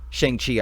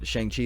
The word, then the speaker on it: Shang-Chi: Shang-Chi, I think, is how you say it, because Shang Tsung is from Mortal Kombat.